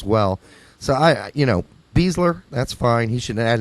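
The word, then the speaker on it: Besler: I only have one complaint about Beasler and that his name is pronounced Beasler when it's so obviously Bessler.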